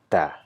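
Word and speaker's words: تاء: one is also simple it is TA in English we have a sound ta right so T goes for Tiger or T and goes for let's say uh teen yeah but this is not ter sound this is thinner sound and how do you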